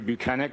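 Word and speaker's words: Bukhenik: My name is Buchanan. My last name is spelled B U K H E N I K.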